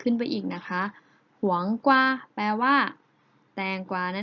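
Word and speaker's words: 黄瓜: กวา นะ คะ ได้ ภาษา จีน แล้ว จะ ออก เสียง ว่า หวง กว่า หวง กว่า หวัง กว่า นัก เรียน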